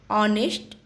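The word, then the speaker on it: honest: नेक्स्ट है ऑनेस्ट। ऑनेस्ट में H silent है, इसलिए जो फर्स्ट साउंड जा रहा है वो है ऑनेस्ट, इसलिए यहाँ भी लगेगा एन।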